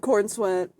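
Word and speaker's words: Corenswet: That's why I thought I was saying it wrong because that does not sound right. But I'm sorry. It is David Cornsweet. You did great.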